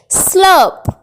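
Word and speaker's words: slurp: Next word is सुरसुर करके पीना, सुरसुर करके पीना मतलब आवाज करके कुछ पीना, तो उसे हम इंग्लिश में बोलेंगे स्लर्प, स्लर्प। इसमें आर साइलेंट रहेगी और स्लर्प एक वर्ब है।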